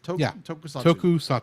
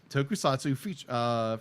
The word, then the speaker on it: Tokusatsu: Tokusatsu. Tokusatsu production. You could just say Toku for ease of use. Tokusatsu. I'm going to say Tokusatsu. I think. Okay. Just giving you the official short word. Yes. Tokusatsu franchise, offering a neo-light look at the city-smashing